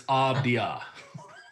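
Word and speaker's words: Avdija: it just say it if you read it you're going to say it wrong but it's abdia abdia all right denny abdia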